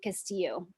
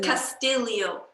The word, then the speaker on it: Castillio: I grew up with people calling me Castillo, because that's like like Hispanic way of Right. pronouncing it in So it's California. Castillio. Castillo, because Okay. of the Spanish influence on the Philippines, Right. is Castilian Spanish.